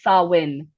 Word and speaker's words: Samhain: We're pronouncing it wrong. It's Sawin.